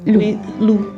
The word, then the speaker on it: Loupp: Lou. Oh, pardon. En fait, il y a deux P à la fin. Oui. Donc, je pensais que tu prononces le P, mais en fait, non.